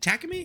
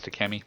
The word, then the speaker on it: Takemi: Is it Takami? How do you say it? I think it's Takemi. Takemi? Takemi, yeah.